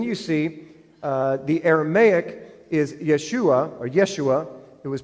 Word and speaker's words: Yeshua: So on the left-hand column, you'll see in Hebrew, the word is Yeshua. The phonics is in the middle, so you know how to pronounce it.